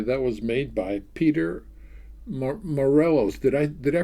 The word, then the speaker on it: Morelos: This is a tenor ukulele that was made by Peter Morelos. Did I pronounce that right, Sean? Moreros.